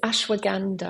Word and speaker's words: ashwagandha: It's ashwaganda. Ashwaganda. Okay. And it's spelled.